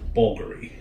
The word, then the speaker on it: Bvlgari: with the V or with the U is pronounced bouldery and if he found her since the trio's